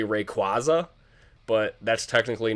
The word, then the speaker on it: Rayquaza: For those of you who don't know, my favorite Pokemon of all time is shiny Mega Rayquaza. I know a lot of you will say Rayquaza, but that's technically not how his name is